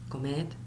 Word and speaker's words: comed: The pronunciation, we don't do the D that much. We pronounce some speakers like a Z, id, comed, or hablad. But the proper would be hablad, comed, id.